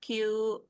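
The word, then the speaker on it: 九: dibacanya yo bukan yong kalau 9 itu bacanya q gitu G ya.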